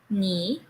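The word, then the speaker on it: 你: first word miss l me oops that's third intonation me better how about the second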